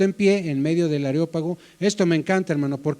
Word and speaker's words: Areópago: y llegabas ahí al al aerópago areópago es la pronunciación areópago llegabas ahí y